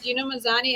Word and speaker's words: Gina Mazany: Roy Jones, Anthony Pettis, everybody we're mentioning, but of course Pearl Gonzalez, Gina Mazany. Am I pronouncing that right, Pearl? Yeah, Gina Mazany.